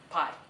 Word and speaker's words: Pi: Hello, my name is Pi, pronounced like the dessert and the mathematical term.